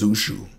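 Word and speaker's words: Zouxou: I think it's Zushu. So it's spelled Z-O-U-X-O-U.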